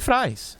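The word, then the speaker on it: Frijns: E ele enfrenta Robin ou Frins ou Frains. Qual o jeito certo de falar, mano? Eu costumo falar Frains. Então é Frains.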